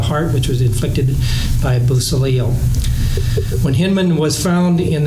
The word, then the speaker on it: Beausoleil: committed with crime partners Biolcia, how do you pronounce that one? Beausoleil, Ann Atkins, and Grogan and Davis.